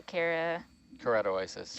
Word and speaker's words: Keratoisis: The Keratoisis.